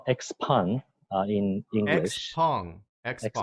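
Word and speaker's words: Xpeng: is their president Brian GU how do you pronounce the name of the company well it's called expand in you know song xx on okay and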